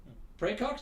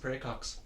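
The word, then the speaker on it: praecox: r a e CX like like pre yeah like in the last name Cox he's got to case of pre Cox PR pray for his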